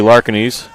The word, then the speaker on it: Larkinis: of a roll so oh Excuse Me Kate Kaylee larkinis as I was mispronouncing it all day but it makes two of us so at bat